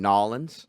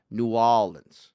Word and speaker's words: New Orleans: pissed at them for saying nollins because that's like the some some real estate agent from kansas city invented that pronunciation no new orleans bastion no the way true new orleans would say would be new orleans new orleans new orleans